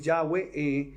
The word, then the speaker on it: Yahweh: Pero su nombre correcto es YHWH, que es Yahweh, como se pronuncia en hebreo.